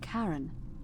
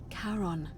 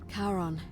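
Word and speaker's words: Charon: Only your pronunciation is a little off. The name you heard wasn't Karen. It was C H A R O. Yeah, as we thought. As in Karon, the fairyman of the dead.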